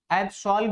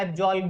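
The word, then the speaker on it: absolve: एब्सॉल्व भी बोल सकते हैं, एब्जॉल्व भी बोल सकते हैं, ठीक है, दोनों प्रोनाउंसिएशन सेम है, कोई प्रॉब्लम नहीं है।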